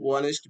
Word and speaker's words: honest: Although honest begins with a consonant H, it is silent. The word is pronounced with a vowel sound one is so and is used.